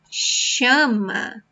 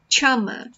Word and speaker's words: chama: Como você chama? Como você chama? Pay attention to this sound. It sounds like sh, sh, okay? So it's not chama. It's not that. Chama, okay?